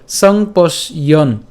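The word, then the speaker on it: সম্পশ্যন্: এরপর সংপশ্যন, এটাও আমরা একসাথে উচ্চারণ করবো, সংপশ্যন, সংপশ্যন, ঠিক আছে,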